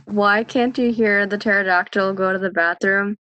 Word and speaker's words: pterodactyl: can't you hear the pterodactyl go to the bathroom because the p is silent that's a good one